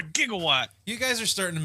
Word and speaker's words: gigawatt: right here Marty knew the right pronunciation of that word he's like what are you talking about a jigawatt it's called a gigawatt you guys are starting